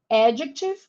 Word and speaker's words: adjective: So these 3 words that are frequently said in class by teachers all have the stress on the first syllable. Adjective, pronoun, and warm up.